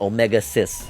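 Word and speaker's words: Omega-Xis: Legacy Collection, and he says his name is pronounced Omega Cis.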